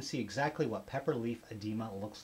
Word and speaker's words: oedema: And I guess the O is silent.